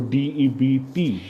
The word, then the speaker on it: debt: So DEBT, debt. B is silent.